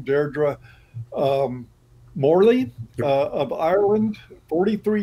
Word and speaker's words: Deirdre: story right now uh deidre or i guess that's how you pronounce her name deirdre um morley of ireland